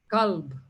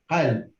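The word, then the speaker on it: قلب: Kalb. Qalb. Now, Heart, for many people who cannot pronounce the qa, it sounds exactly the same. Kalb Right. and qalb, which are completely different.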